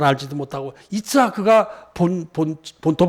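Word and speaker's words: יצחק: 그게 우리 그냥 이삭 하는데, 이츠하크가 이제 본토 발음입니다. 저도 그냥 주석책에서 봤지만 히브리어 잘 알지도 못하고, 이츠하크가 본토 발음입니다.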